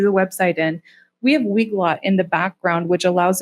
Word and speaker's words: Weglot: The next one is Weglot, that's how you pronounce that, and it enhances our website translations.